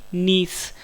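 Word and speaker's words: gneiss: है A option D नीस friends आपको English में वर्ड याद रखना है इसकी स्पेलिंग है जी अपनी आई डबल एस मुझे साइलेंट एंड नीस जो है जब ग्रेफाइट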